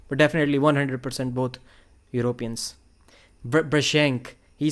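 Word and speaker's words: Brzenk: Brashenk, he said that Brazink, they call it Brasink in USA, but originally it is a European surname. It is pronounced as Brashenk, something like that. It is not Brazink.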